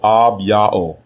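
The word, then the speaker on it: אביה: The way you pronounce his name is Ab-Ya'o.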